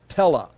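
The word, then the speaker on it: טלה: the L and then you've got this aleph which is silent so it'd be the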